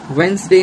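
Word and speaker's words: Wednesday: Match T silent, rhythm T silent, Depp B silent, chalk L silent, balm L silent, sign जी silent, वेंसडे में D silent, would में L silent और half में L silent.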